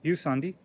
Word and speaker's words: ユサンディ: You can see it says Jusandi or Jusandi, but it's pronounced Jusandi.